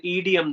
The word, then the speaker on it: idiom: a long sentence, you can use an idiom there. So its right pronunciation is idiom.